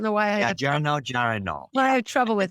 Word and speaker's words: geranylgeraniol: And it's so hard for me to pronounce this word, but I want you to talk about geranol. I never pronounce it right.